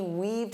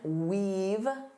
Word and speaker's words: weave: For example, she weaved through the crowded mall. So, she had to walk like this to avoid the people. Now, notice that pronunciation. Weave. Eve. Weave. Don't confuse this with wave. Wave.